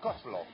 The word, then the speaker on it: coleslaw: Se escribe coleslaw. Pero es la coslo.